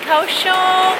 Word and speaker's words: Kaohsiung: Hi, we are in Kaohsiung.